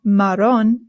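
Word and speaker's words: marrón: Next one is maron. Maron. Maron. The double a in Spanish is what rolls. Sorry. The double R in Spanish is what rolls. So it's not maron. It's maron. If you have a hard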